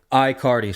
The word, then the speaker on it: Aicardi: to pronounce it aardi I cardi so like there's nothing there in the front so wicked simple iard yep I cardi